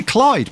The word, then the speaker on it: Clyde: name CL IDE a I want to say Clyde but is that is that right is that how you pronounce it yes no way amazing